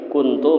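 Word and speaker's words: كُنْتُ: Jangan baca kuntul, sambat munabahnya kena ya Allah. Nah, kuntu jangan kuntul lah. La ilaha illa anta subhanaka inni kuntu minadz zalimin.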